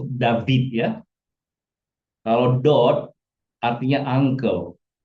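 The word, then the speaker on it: דוד: Ada orang membaca ini dod juga ya. Tapi lebih bagus dibaca dibaca dia lebih bagus David ya.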